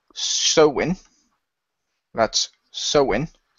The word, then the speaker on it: Samhain: American pronunciation yeah but I always feel answered so in because it's the same name as the celtic festival ah which was from over here and most people over here referred to it as so in all right at